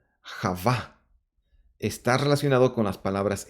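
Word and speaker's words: חוה: comienzo de la esperanza Eva en hebreo se pronuncia Java está relacionado con las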